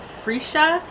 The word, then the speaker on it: freesia: Moss and freesia freesia so I just googled how to pronounce it and apparently it's a free shot and it creates a